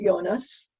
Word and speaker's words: Jonas: His name is Jonas, which is the Amharic pronunciation of Jonah.